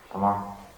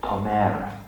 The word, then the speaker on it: Tomer: Okay, Tamar. Tomer, that's how you say it.